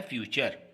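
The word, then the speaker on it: future: अगर देखें तो इसको फुटरे हम पढ़ते हैं, लेकिन ये गलत प्रोनाउंसिएशन होगा. इसका प्रोनाउंसिएशन होता है फ्यूचर.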